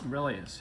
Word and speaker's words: Aurelius: Aurelius, right? Am I Yeah, so pronouncing that right? that's a bust of Marcus Aurelius. Aurelius, yeah.